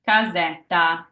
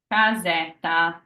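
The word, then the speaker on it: casa: are just a t sound so this is pronounced Kaza Kaza all right let's do another one and kazeta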